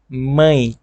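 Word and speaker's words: mãe: বাবা হচ্ছে পাই পাই পাই মাকে আমরা বলবো মাই মাই মাই এখানে এর উচ্চারণটা কিন্তু ডিফারেন্ট হচ্ছে অনেকটা নেকানো নেকানো টাইপের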